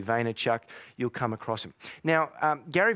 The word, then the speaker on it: Vaynerchuk: out even if you have a guess at his name phonetically Vaynerchuk you'll come across now